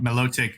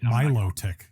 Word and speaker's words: Milotic: get what you're saying I just think mellow take just sounds stupid Milotic like my logic like hi Milo you